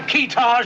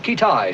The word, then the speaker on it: Keetage: Have we located this fella Keetage yet? Pronounced Kitai, sir.